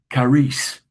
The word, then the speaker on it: charis: So as far as the pronunciation goes, so it's is, charis. And the H is silent because a K uh, implies a K. Um, so KHAR would be K, charis.